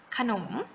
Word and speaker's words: ขนม: กำกับ อยู่ เพราะ ฉะนั้น ให้ หนู ออก เสียง อะ เพียง แค่ ครึ่ง เสียง นะ คะ คือ ขนม อย่าง นี้ นะ คะ